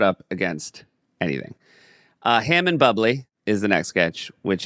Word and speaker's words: Bublé: And he insists, and Michael does try to say it's actually pronounced Bublé, and he's like, and John like very menacingly says, "That's not." No, now it's Bubbly.